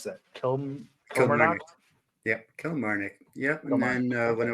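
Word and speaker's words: Kilmarnock: How do you pronounce that? Kil Kil. Yeah. Kell Marik.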